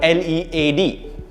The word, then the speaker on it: lead: this is pronounced so the first one is pronounced lead it's a metal usually we say you